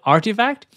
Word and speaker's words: RTFKT: web 3 firm which is the rtfkt which pronounces artifact they have bought a dot shush ethereum domain